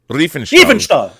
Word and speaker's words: Riefenstahl: These two letters, an I and an E. Just say it like you would say Dieter, so it's Riefenstahl.